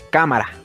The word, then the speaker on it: cámara: En esta palabra, la tilde nos indica la sílaba acentuada, así que ya sabemos que ka es la sílaba tónica y ma y ra son las sílabas átonas. Y decimos cámara.